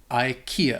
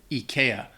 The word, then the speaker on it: IKEA: Bởi vì ở Thụy Điển họ nói .... nếu tôi ... / Ikea / Có lẽ tôi vẫn có thể phát âm sai. Nhưng nếu bạn ở Mỹ hoặc Anh Tôi nghĩ hầu hết mọi người phát âm nó IKEA và đó là điều họ hiểu. IKEA Yea, đưa cho bạn